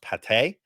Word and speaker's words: Pate: First off, I'm really disappointed his last name is not pronounced Pate.